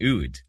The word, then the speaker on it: oud: A bouzouki, a doumbek, and an oud.